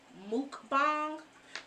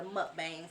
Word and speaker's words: mukbang: But it actually started in Korea, and it's usually pronounced mukbang, but we as Southerners, or whatever the case may be over here in the States, we call it a mukbang.